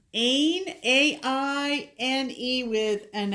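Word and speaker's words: Áine: We have switched over to Jaslyn from Leslie, and we got the February, which is called Aine. Aine, A-I-N-E, with an accent aigu on the A.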